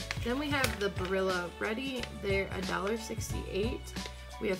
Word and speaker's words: Barilla: Then we have these Barilla, yeah, that's how you say it.